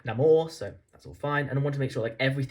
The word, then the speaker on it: Namor: animal's pronunciation right because I've heard it being neymal for years and then this film seems to call it late now more so that's all fine